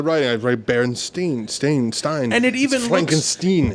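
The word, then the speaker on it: Berenstain: these books clearly and Stein was how I pronounced it Stein was the way I'm spelling it in my head I'm spelling it on the paper here and that says stain bear stain Bears yeah this is the big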